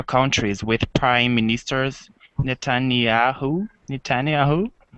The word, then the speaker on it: Netanyahu: Netanyahu. Netanyahu.